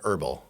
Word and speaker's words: herbal: In English, you never pronounce that H.